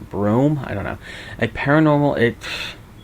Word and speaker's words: Broome: It's like broom with an E at the end. Broome?